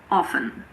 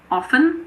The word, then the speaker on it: often: In this word, some people pronounce the T and some people don't. It's your choice. I personally say often, so I don't pronounce it, but you can say often if you want.